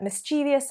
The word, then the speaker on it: mischievous: Because actually the way it's spelt is really the way it should be said. Well, in America, the Harvard Dialect Survey found that 26% of Americans actually pronounce mischievous with 4 syllables.